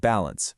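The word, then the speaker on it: Balance 3: And yeah, that's balance with a three at the end, but you pronounce it balance, just so you know.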